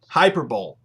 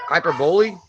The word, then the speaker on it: hyperbole: understand what's going on here but she said hyper bowl hyper bowl you know the word hyper bowl she said hyper hyperbole she said spell it probably she said spell